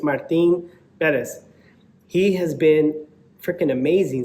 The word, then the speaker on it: Martín Pérez: that people hear the way you're supposed to pronounce his name correctly uh just gets kind of irritating hearing people Perez Martin Perez I'm like bro that's how you say his name it's Martin Bez he has been freaking amazing so far this